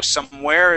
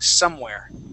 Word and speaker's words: somewhere: Okay, so the word somewhere, the accent is going to go at the beginning of the word instead of at the end. You had said somewhere, okay? So somewhere is, you added the accent there. So we want to put it at the very beginning saying somewhere, somewhere.